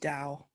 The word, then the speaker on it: Tao: practitioner is it oh so i pronounce it dao okay okay all right but it's t-a-o and also it can